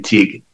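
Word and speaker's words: Teague: It's Gaelic. It's for T-E-A-G-U-E, pronounced the same, teak.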